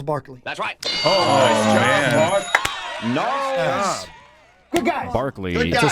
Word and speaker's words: Gnarls: Gnarls Barkley. Man. Gnarls Good guys. Barkley. Good It's a guys. soft Come G on. there. Yeah, that's what I was It's a soft G. Soft G hurts.